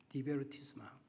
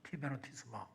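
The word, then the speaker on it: divertissement: 디베르티스망. D-I-V-E-R-T-I-S-S-M-E-A-N. 그래서 영어로는 T처럼 메인이라고 읽어야 될 것 같은데 불어는 그 메인이라고 읽지 않고 망으로 읽는다 그래요.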